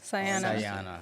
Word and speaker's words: Sajana: Diana with an S sayana interesting interesting gu s and it's if you see how it's pronounce it has a j and the J is silent the J is silent